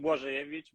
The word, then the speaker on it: Blazejewicz: It's Polish, so it's long, and it has different small vowels. So it's pronounced Blazejewicz, but in this side of the pond, no nobody uses that bit.